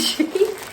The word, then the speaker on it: Shein: Donc, Shein, je dis tout le temps Shein, mais je sais pas si... Il y en a qui le prononcent autrement. Bref, moi je dis Shein.